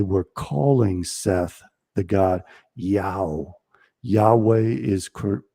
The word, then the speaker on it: Yahweh: And uh Yahweh was spelled in Greek iota um alpha omega, which pronounces yao, which is the sound that a donkey makes when it's praying.